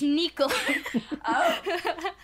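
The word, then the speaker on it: Nikolaj: it's me Kailash Nikko Nikko life no it's Nikolas yeah not me as he adopted a lot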